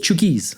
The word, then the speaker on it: Chuukese: Chuki? Chukies. That's how they say it.